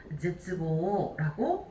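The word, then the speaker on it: 絶望: 자, 위에는 지금 보시게 되면은 세츠보라고 읽고 있지만 밑에 끈을 절자가 들어가게 되면은 얘는 타금이 붙어야 돼요. 제츠보라고 읽어주시면 되겠습니다.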